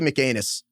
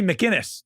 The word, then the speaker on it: McInnis: I'm sure it's not McAnus. Well, it's McAinnis. How would you pronounce it? This is Stuffy McAnus. Sounds right to me. Oh, wait, no, it's two Mackinus. ends. It's Stuffy McInnis.